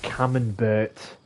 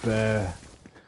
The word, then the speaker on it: Camembert: I had Stilton and Camembert, or Burr, a silent T it could be.